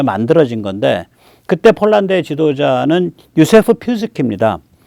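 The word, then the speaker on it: Józef Piłsudski: 그때 이제 폴란드란 나라가 18세기 후반에 없어졌다가 한 150년 만에 그때 만들어진 건데 그때 폴란드의 지도자는 유세프 피스키입니다. 이게 이제 피스키라고 읽어요.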